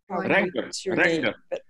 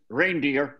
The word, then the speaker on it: Reinder: Reinder. Some people pronounce it reindeer, but I take exception to that.